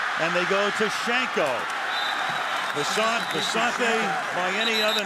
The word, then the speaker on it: Visanthe: And Shanko, who told us last night that he wants to be known as Vicente. I said, how do you want your name pronounced? You say Vicente on your introduction. Which way? I've heard 50. He said, I'm now Vicente.